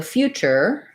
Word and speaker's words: future: t there but future this is actually pronounced as a ch and an er so future few few in that word we have a yah sound so it sounds like you few future adventure thinking of it